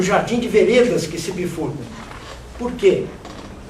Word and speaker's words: vereda: vereda no Grande Sertão Veredas. Mas a palavra vereda é uma linda palavra, é uma palavra de 3 sílabas e paroxítona como sendero.